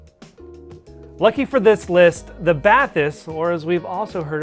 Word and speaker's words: Bathys: look no further lucky for this list the bathys or as we've also heard it pronounce the batis if you're free was just released like the